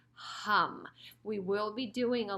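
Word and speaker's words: HAUM: just so you know it's not om which we usually say a lot in traditional yoga classes this is h a m hum sounds very similar and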